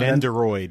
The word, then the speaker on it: Nendroid: Also at the convention was Sentinel, and they had their, how are we going to pronounce this? Nendroid? Nendroid? Oh, yeah. Nendroid, yeah.